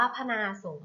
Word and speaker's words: พนาศรม: ค่ะ คำ ว่า พนาศรม พนาศรม อ่าน ว่า พะ นา สงฆ์ ธนาศรม ประกอบ ไป ด้วย